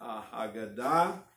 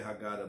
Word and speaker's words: Haggadah: removing so mats again you can find this in Haggadah or if you want to say Haggadah you can say how gotta but you'd be wrong if you were in my presence I might have to do something because it's Hagen died and I we need to learn to pronounce the